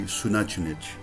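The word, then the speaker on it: Xunantunich: And then the last one would be Sunachunich. Good luck spelling that one. And it took me a long time to figure out how to pronounce it, but that is what it is.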